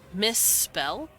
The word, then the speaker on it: misspell: are together they you hold out the sound like uh misspell you're holding out the s double time because you could just say misspell misspell misspell but it sounds silly but if you say misspell it it sounds a little more appropriate uh token tolkien's language